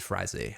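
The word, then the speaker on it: Frazee: excellent episode from David Frazer um it's pronounced David frazzy I believe that's the way Dana said it in the DVD commentary well I didn't enjoy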